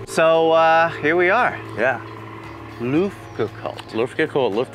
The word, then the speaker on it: Luftgekühlt: Luftgekühlt. Luftgekühlt, Luft 8. Luft. Luft. That's how you say it. Like Luft balloons.